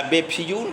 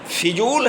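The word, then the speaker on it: फ़िज़ूल: असावधानी बरत देते हैं, जैसे बेफजूल या बेफिजूल कहते हैं। बेफिजूल शब्द नहीं है, फिजूल है, और कभी भी बेफिजूल का प्रयोग नहीं करना चाहिए।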